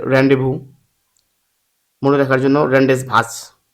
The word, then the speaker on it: Rendezvous: 15 হচ্ছে খ নাম্বার রেন্ডেস ভাজ উচ্চারণ হচ্ছে আসলে রেন্ডেভবু মনে রাখার জন্য রেন্ডেস